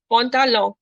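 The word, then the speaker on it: pantalon: No, मैं जो last n है वो नहीं pronounce करो. I'm making it nasal. Pontalon.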